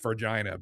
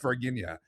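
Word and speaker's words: Varginha: But I always purposely mispronounce it as Vargina, but it is pronounced Varginia in Brazil.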